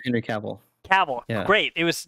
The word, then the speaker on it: Cavill: last name i always say it right henry cavill cavill yeah great it was none of the